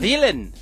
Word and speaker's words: Whelan: guess, set up by Daniel. How do you say that? Whelan? Daniel Whelan? Whelan.